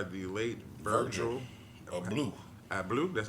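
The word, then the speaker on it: Abloh: real succeeded by the late Virgil of blue I blue that's how you say his name it says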